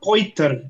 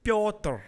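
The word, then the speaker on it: Petr: Piotr. Piotr. No. Piotr Yan. Piotr. Yeah. It's not Poiter. It's Say it Piotr. again. Say it again. Piotr. It's Piotr. It's Piotr. Piotr.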